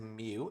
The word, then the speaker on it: mu: symmetrical with the mean mu so this is pronounced mu M mu mu uh in the center so